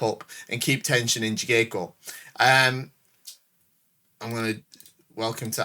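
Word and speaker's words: jigeiko: and keep tension in jigeko. I'm going to welcome to Andy's Japanese classes. It's not a K, it's a G. It's a J. All right, there's no soft G in Japanese.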